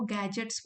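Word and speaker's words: gadgets: यह जो भी मोबाइल, लैपटॉप इन सबको गैजेट्स बोलते हैं। गैजेट्स electronic गैजेट्स D silent है।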